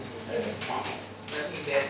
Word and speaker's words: kinesthetic: So the stress is on this syllable, right? Kinesthetic.